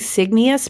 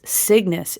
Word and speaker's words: Cygnus: course and it is I was saying signus but it's signis it's spelled c YG in us which makes sense because